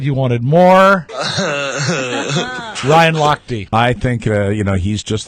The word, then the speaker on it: Lochte: If you're going to mention his name, you should pronounce it the way he does. Lochte.